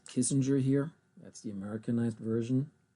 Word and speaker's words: Kissinger: It was not Americanized. So it is Kissinger in German.